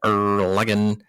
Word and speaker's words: Erlangen: Trail of the Madman takes place in Castle Erlangen, is how you say that, where Blacksworth's goal is to find the maps and plans for the chemical war.